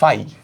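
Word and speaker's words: phi: প্রকাশ করা হয় ফাই ফাই পি এইচ আই উচ্চারণ করা হয় এভাবে ফাই বুঝছো তো আমাদের পরামিতিক চলক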